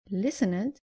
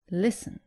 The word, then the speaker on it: listened: And avoid saying listened, say listened.